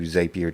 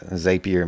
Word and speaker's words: Zapier: on this page yeah zapier makes you happier so i know i'm saying it wrong zapier makes you happier so it messes with me every time zapier let's pull open